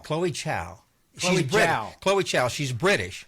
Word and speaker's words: Zhao: me Chloe J Chloe Chow Chloe Chow she's British spell with a z but it's Jia it's j it's spells